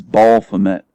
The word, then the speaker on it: Baphomet: He always says Baphomet, as though it's spelled B-A-L-L. Fomet. It's Baphomet. There's no L. It's Baphomet, not Baphomet. Baphomet.